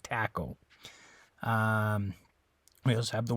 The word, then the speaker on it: taco: to think about it if that was an English word if this had originated in English uh how do you think we'd pronounce that okay what think of some other words spelled similar to Taco and think about how we how we uh pronounce those okay for example we have the game tic tac toe right so with that similar word we say tack instead of talk all right this is Taco not taco um we also